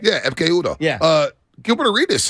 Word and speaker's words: Ekpe Udoh: Did I pronounce that right? Yeah, Ekpe Udoh.